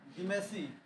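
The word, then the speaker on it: Dematiaceae: Family है डीमेसी डाई और डीमेसी, T silent रही यहाँ, डीमेसी।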